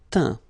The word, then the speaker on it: teint: Teindre, teint. Okay, as usual, final T not pronounced.